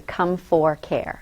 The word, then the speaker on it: ComForcare: They want to put a T in there all the time. It's actually ComForcare. So we come for care. Okay. Now, when I was speaking to the representative from ComForcare, she was out of Chicago.